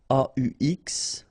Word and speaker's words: aux: Okay, so you can see that here you combine a plus les, and you will get this aux, okay, and then phonetically you produce it or you pronounce it au.